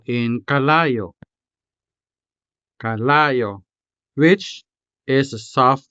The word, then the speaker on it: kalayo: Kalayo, meaning fire. Let's syllabicate this word. Ka, la, yo. Kalayo.